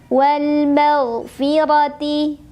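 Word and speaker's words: وَالْمَغْفِرَةِ: Wal maghfirati. Ra dibunyikan secara tafkhim karena ra berbaris dan barisnya di atas. Maka cara membacanya adalah ditebalkan. Wal maghfirati bi'idnih.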